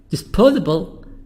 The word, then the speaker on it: disposable: Disposable is here the sound وpronounce as the. هننطق الاس هنا زي الزد او الزي. Disposable products.